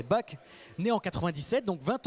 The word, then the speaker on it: Bach: On va on va prononcer on va prononcer BAC.